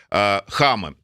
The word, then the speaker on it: Хама: Вы у себя в телеграм-канале выставили видео, как сирийские ребелы перекидывают подкрепление в направлении Хама, так правильно ударение? Да.